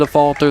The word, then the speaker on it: Affolter: Dylan pronounced it Affolter. That's what we're going with.